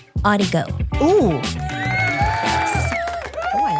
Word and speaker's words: Audigo: Well, I found this really cool new recording situation called Audigo. Ooh. Oh, I like it. Audigo. I've I seen think that. that's how you say like audio on the go. Ah, Audigo.